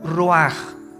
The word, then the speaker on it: ruach: El ruaj que se escribe r u a c h ruach en el hebreo y se pronuncia igual ruaj.